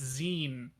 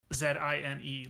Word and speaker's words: zine: No, Sam, it's Zine. Zine, like magazine.